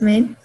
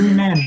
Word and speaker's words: Min: First of all, how do you say your name first? You introduce yourself quickly. My name is Min. Huh? Min ạ. Min? Okay, I thought you were Lee Man. Min like the name.